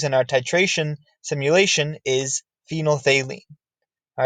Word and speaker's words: phenolphthalein: our titration simulation, is phenolphthalein. All right, and that's one of those words that sounds nothing like it's spelled. Phenolphthalein is an acid-base indicator